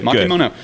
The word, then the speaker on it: makimono: Makimono. Uh, so yeah, whenever you think of sushi, you think of the rolled log. That's makimon. Makimono means to roll.